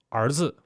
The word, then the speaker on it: 儿子: That's R, R. Like the word son in Chinese, we say it 儿子, 儿子. So we curl our tongue and say it.